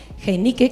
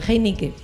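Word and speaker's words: Heinicke: a dejarlo ahí en Heinique, que no es como la cerveza, eh, es Heinique.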